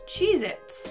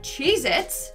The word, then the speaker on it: Cheez-It: number nine we have Cheez-Its but apparently that tasty cheese cracker is not called Cheez-Its it's Cheez-It either I've been saying it